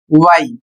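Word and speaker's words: why: कब next word है डब्ल्यू एच वाई इसे पढ़ा जाएगा वाई और इसका अर्थ होता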